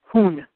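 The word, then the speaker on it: Hun: one which in uh many of the Mayan languages is pronounced hon hon canal and the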